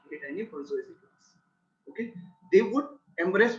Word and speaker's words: bourgeoisie: Okay, if you have heard this bourgeoisie class, it is smelled, it is pronounced like this.